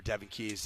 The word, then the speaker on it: Devon Key: air right to uh Devon Key or Devin Keys as it's pronounced. It looks like Devon Key.